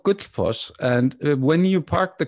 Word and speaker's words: Gullfoss: next stop would be Golfus Waterfall. Did I pronounce that right? Was I close? Yes. Well, we'll talk about that later, about your pronunciation. Sure. Okay. But could you tell us about the waterfall? It's called Gullfoss, and when you park